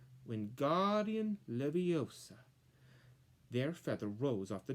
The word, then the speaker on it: Wingardium Leviosa: Wingardium Leviosa, he shouted, waving his long arms like a windmill. You're saying it wrong, Harry heard Hermione snap. It's Wingardium Leviosa. Make the gar sound longer.